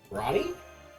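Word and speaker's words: Rani: R A N I. Ronnie. So, you are taking our acronym and signing it out phonetically as a word for our name.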